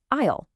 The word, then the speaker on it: aisle: These long pathways are called aisles. But look at that spelling. The S is totally 100% silent. It's aisle. It sounds exactly like aisle.